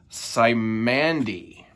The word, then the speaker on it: Cymande: members and this is the band and simandy yes that's how you pronounce it that's how they pronounced it at